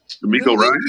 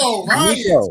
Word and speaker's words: DeMeco Ryans: Sean Payton and Denver Broncos have agreed after they couldn't get how you pronounce his name? So I don't fuck this up again. DeMeco Ryans. DeMeco Ryans, man.